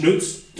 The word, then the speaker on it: XNÜTZ: their branding on it, pronounced XNÜTZ, obviously spelled XNU, or the German U with the 2 dots, TZ, XNÜTZ. But if we got rid of the X, you would just call it nuts, because this item is actually quite nuts.